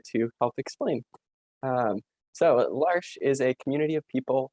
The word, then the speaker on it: L'Arche: probably wondering what is lars how do you pronounce it um well i'm here to help explain um so larsch is a community of people with and without